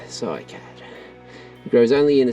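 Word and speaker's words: cycad: Scikad pronounced scikad.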